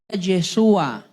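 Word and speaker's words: ישוע: y pondrá su nombre Jesús en hebreo se pronuncia yeshua yesua y yeshua quiere decir Dios tu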